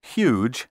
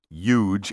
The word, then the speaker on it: huge: Be sure to clearly pronounce the H in huge and human. Don't say huge and human.